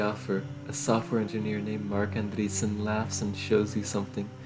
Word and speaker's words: Marc Andreessen: Anderson and entities place a software engineer named Marc Andreessen oh that's how you pronounce it and the reason is that did you know gaming I can't believe it it's Marc Andreessen right excuse me you follow butch and conveniently